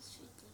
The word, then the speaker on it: স্মৃতি: না স্মৃতি স্মৃতি এখানে নিয়মটা হচ্ছে যে এই যে ম উচ্চারণটা হলো না এই প্রথম ক্লাসে বলেছিলাম যখন এই উচ্চারণ নিজে নিজে হবে না পূর্ণাঙ্গ বর্ণ যুক্ত হওয়ার পরে তখন সে করবে কি হয় সে যার সঙ্গে যুক্ত হয়েছে এ উচ্চারণটা ডবল করে দিবে দৃপ্ত করবে নতুবা একটা পরিবর্তন আনবে সেটা কি আংশিক এটা তখন সাউন্ডটা হবে কি স্মৃতি একটু আংশিক নাকে আসবে স্মৃতি এইযে ম